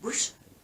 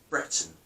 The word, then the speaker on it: Breton: But we have a song in Britain, not Britain, Breton.